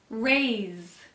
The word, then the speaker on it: raised: next door this morning raised raised notice this s sounds like a Z please raise your hand